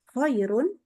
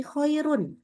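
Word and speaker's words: خَيْرٌ: kan nah iya jadi itu sebenarnya bukan koiru tapi khairun kirun Oh.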